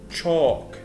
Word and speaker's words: chalk: book bookcase cafeteria calculator calendar chalk. طبعا ال L silent مش بنطقها, ال A L بنطقها زي صوت ال O.